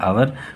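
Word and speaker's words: our: कभी कभी आवर नहीं होता है, मगर स्पेलिंग लर्न करने के लिए आवर वरना आर बोलते हैं, आर एंशियंट कंट्रीज।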